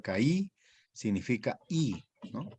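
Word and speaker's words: καί: es una conjunción que significa se pronuncia caí significa I no Y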